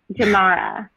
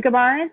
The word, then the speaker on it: Gemara: And you told me how to pronounce this before. Gemara. Gemara.